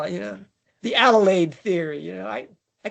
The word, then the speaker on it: Adelaide: We call it, you know, the Adelaide theory, you know, I I can't even pronounce the name of the city. I don't even know. Forgive me. Adelaide, right? Yeah. Shh. Adelaide.